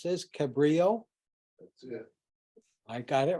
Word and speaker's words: Cabrillo: the computer should generate a somebody want to pronounce this Cabrillo that's it I got it right well a Cabrio formatted computer file that you can then email